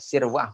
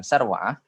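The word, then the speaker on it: سروعة: Jadi ini Abi Sirwa'ah dibacanya Sirwa'ah bukan Sarwa'ah ya, dibaca Sirwa'ah dibaca sin. Namanya adalah Uqbah bin Al-Harits radhiyallahu anhu.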